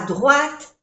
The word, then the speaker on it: droite: Figure à droite, O-I-O-A, droite, à droite, no se pronuncia la E, à droite de ce formulaire.